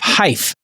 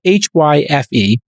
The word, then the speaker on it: Hyfe: He is the co-founder and CEO of Hyfe, as in like rhymes with life. It's spelled Hyfe, and it's a smartphone app.